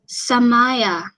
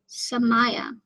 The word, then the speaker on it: Somaya: would you think that oh Samaya well I totally butchered your name I'm so sorry well now I know Somaya that's very pretty all